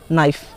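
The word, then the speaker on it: knife: नाइफ। नाइफ मतलब होता है चाकू। अगर एक एक चाकू है तो उसे नाइफ बोलेंगे। और अगर एक से ज्यादा है तो उसको नाइफ्स बोलेंगे। उसमें के साइलेंट हो जाएगा।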